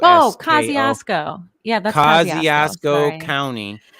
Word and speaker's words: Kosciusko: How do you pronounce that one, Katie? I actually don't even know what it's the school. Kosciusko. Oh, Kosciusko.